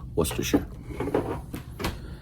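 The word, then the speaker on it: Worcestershire: Worsher sauce. It's actually pronounced worershir.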